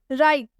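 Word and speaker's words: write: राइट, राइट में भी आप देख सकते हैं W के बाद से R आया हुआ है, इसलिए हम इसमें W का उच्चारण नहीं कर रहे हैं, इसमें W साइलेंट हो जाता है, इसे हम सिर्फ राइट पढ़ेंगे।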